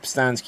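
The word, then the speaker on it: Pustansky: dollars okay fabulous uh my name is postansky you can find me on facebook instagram and twitter at stansky which is spelled p-u-s-t-a-n-s-k-y you can also get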